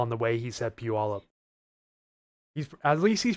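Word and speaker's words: Puyallup: Let's see if he pronounces Puolive correctly. He just said Palup. That's funny. Oh boy. Yeah. Pew all up.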